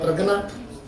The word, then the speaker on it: प्रज्ञा: और प्रज्ञा याने प्रज्ञा याने हिंदी में प्रज्ञा कहते हैं गुजराती में प्रजना तो प्रजना का अर्थ है लेकिन संस्कृत उसका उसका प्रज्ञा च छ य को एक साथ मिलाएंगे तो जो उच्चारण होता है व ज का उच्चारण प्रज तो वो वो होती